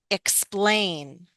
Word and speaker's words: explain: Often with the verbs, stress is on the second. That's why we say hm explain.